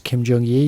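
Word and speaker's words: Kim Jung Gi: Jong Yi which is Kim j-u-n-g and then GI that's how you say his name is Kim jong-ye you're supposed to ghee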